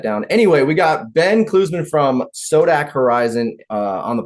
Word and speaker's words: Klusmann: Klusmann? Klusmann, you nailed it. Klusmann.